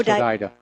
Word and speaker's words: Hodeidah: It's pronounced Hodeidah.